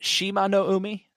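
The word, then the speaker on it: Shimanoumi: uh who's this person i believe it's pronounced shima no umi okay okay okay the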